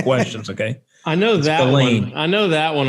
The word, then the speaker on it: Ghislaine: Well, Maxwell disappeared off the back of his yacht, named after his youngest daughter and favorite child, the Lady Ghislaine, in the early hours of the 5th of November, 1991.